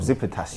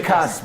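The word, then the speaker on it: Tsimikas: How do you pronounce the name? Simicas, bro. Simicas. Simicas.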